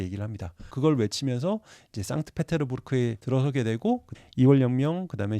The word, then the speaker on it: 상트페테르부르크: 수 있죠 말풀이 요약하겠습니다 성 피터스버그고 발음하면 안 되고 상트 페테르부르크 피터의 요새라는 이름으로 해서